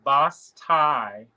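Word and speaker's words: basse-taille: It doesn't look anything like how it's spelled. It would be BAS, but I don't know the tie part. I've never seen it before. It's TAILLE. Oh, TAILLE. Bataille.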